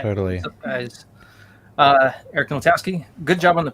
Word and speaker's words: Ninaltowski: The W, that's not how it's actually pronounced in Polish though, right? I've always pronounced it Ninaltowski. Ninaltowski. Oh, right, because in Polish it's probably the L with the slash.